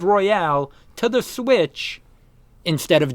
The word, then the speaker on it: Royal: fans should be vocal about porting Persona 5 Royale to the Switch instead of just doing that. So... Hold on. Yeah, I need to what? reread this. Wait, is it Persona 5 Royale or Royal?